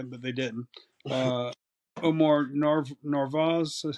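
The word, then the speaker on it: Narváez: had Carlos Correa but they didn't uh Omar narvaz that's how you say his name the catcher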